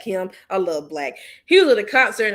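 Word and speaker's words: 6LACK: It was spelled 6 LACK, but it's pronounced Black. Him, I love Black.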